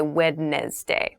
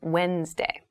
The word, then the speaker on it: Wednesday: of the week but keep in mind this is pronounced wednesday there's a d there but we don't say wednesday we say wednesday wednesday the 18th wednesday